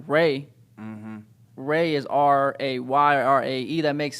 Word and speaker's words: Rae: So, but it's spelled it RAE because like Ray.